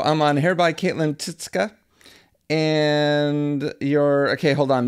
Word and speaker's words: Tyczka: I think I lost the pronunciation of your last name. Tyczka.